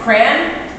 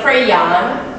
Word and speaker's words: crayon: Do you call it with one syllable, with rhymes with man, crayon? Or is it with two syllables, sounds like crayon? Or with two syllables, where the second syllable rhymes with dawn, crayon? Or sounds like crown?